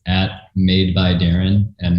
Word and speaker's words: Darin: it's at made by darren and my name is spelled phonetically d-a-r-i-n um and also check